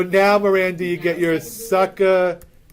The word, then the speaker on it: Sacagawea: So now, Miranda, you get your Sacagawea, which I think I'm mispronouncing that anyway. Yes. It's a G.